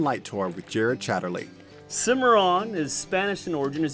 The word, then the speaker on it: Cimarron: a historic lantern light tour with Jared Chatterley Cimarron is Spanish in origin is actually pronounced see my own it means wild untamed unruly from the business